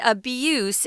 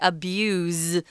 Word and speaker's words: abuse: though as a verb it's spelled the same but we say abuse with a z sound abuse is the noun form with an s sound yeah so they're probably